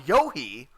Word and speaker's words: Yohi: was calling him tyrone yohi uh he got into my dms and told me that the h is silent and his name is pronounced yo but he gave me